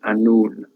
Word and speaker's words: Annwn: is the king of Annwn. W is pronounced as 2 O's, Annwn. So it's a vowel really in Welsh, which is why you